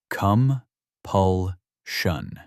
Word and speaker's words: compulsion: Say it with me. Come. Pulun. Three syllables. Stress on the second.